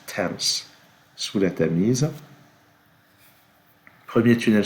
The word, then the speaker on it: Thames: Alors oui, ça se prononce Thames, sous la Tamise.